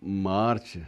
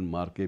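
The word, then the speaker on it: Marche: करूंगा कि एक स्टीफेन मार्च नामक स्टीफन मार्च भी कहते हैं। स्टीफन मार्के भी उसको उसका नाम लिया जाता है। अंग्रेजी में उच्चारण जो है वो सीएच के अलग-अलग दिए जाते हैं और उसने अपने भाषाई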